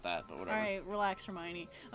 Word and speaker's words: Hermione: Alright, relax, Hermione. Hermoine. I've heard people call her Hermoine. Don't do that.